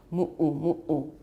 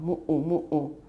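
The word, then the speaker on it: muʻu: So we pronounce Hawaii in Hawaiian as Hawaii, Hawaii. 然后女生爱穿的那个像睡衣的长袍叫 mu'u. It's M-U, glottal stop U, M-U, glottal stop U. It's reduplicated. So mu'u.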